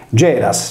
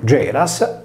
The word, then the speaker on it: Γέρας: Geras, senza la S sigmatica del nominativo, si leggeva come il sardo Gerra.